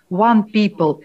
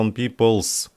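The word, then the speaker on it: One People's: Вы еще неправильно произносите название. Не просто one people, а one peoples.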